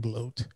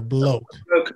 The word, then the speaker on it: bloke: i've heard that term too he's a freaking bloat what is a bloat i don't know i've